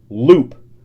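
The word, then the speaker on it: loupe: already know this but a Jeweler's Loop is pronounced Loop that's the little I thing we are talking about Friday yes that you were calling Diamond eye wow and then we looked it up and it's l-o-u-p-e and we weren't sure if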